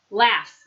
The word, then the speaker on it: laughs: okay listen and repeat laughs laughs the gh sound or the ugh sound sounds like it's an F sound laughs talk talk we